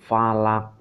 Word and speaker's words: falaq: Nah, ini qaf, ini qalqalah. Nah, ini bacaan qalqalah. Jadi dia memantul falaq.